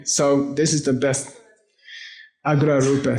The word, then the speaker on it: Agra Rupa: Agra Rupa. Say A-G-R-A-R-U-P-A. Agra Rupa.